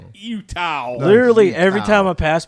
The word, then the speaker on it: Eutaw: There's a Utah, Alabama, but it's spelled EUTAW. Utah.